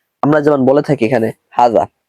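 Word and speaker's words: هذا: যেমন বলে থাকি এখানে হাজা উচ্চারণ কিন্তু এরকম না হাজা না হাজা এরকম হবে অর্থাৎ হার উপর একটা টান আছে যাতেও একটা টান আছে এটা লোগাতে দেখে নিবেন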